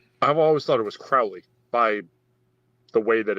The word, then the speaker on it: Crowley: last name call me crowley if you think me fowley call me crowley if you think you me holy i know it has